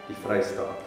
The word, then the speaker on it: Die Vrystaat: I pronounce it, but how do I pronounce Free State? In Afrikaans? Yeah. Die Vrystaat.